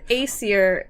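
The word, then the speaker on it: Æsir: Aesir is correct.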